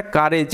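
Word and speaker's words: courage: হি gathered, gathered কথার অর্থ হচ্ছে জড়ো করা, অল সমস্ত, হিজ তার কারেজ, এটার উচ্চারণটা কারেজ, এই যে ও ইউ আর, এখানে আর এরকমভাবে উচ্চারিত হবে, কার এজ, কারেজ মানে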